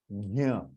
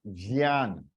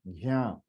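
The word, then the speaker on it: ज्ञ: It becomes gyan, gyan. It is gyan. It is anunasika swar, gyan, gyan. It is not jyan. Ja is there, but you are not actually pronouncing ja. So it is gyan, gyan, gyan. That is the sound, gyan, gyan. That is the sound of anunasika. Once I start my lectures,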